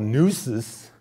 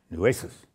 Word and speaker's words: Nueces: this Civil War class, I mispronounced Nueces. And I must have had 30 emails from Texans. (audience laughing) "Dude, it ain't called Nuces." And they're right. Nueces.